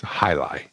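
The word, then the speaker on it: jai alai: looks like soccer gear it's spelled j j a i and then alay a l a i j l a but it's high lie come kind of like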